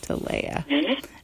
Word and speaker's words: Talaya: her back welcome to tolaya I'm gonna make sure I get your name right thanks for having me and my name is pronounced okay to Leia sorry yeah cancer Journey